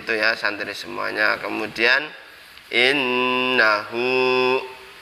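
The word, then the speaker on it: إنه: Kemudian innahu, ini seperti tadi, nunnya bacaan huna harus berdengung 2 harokat.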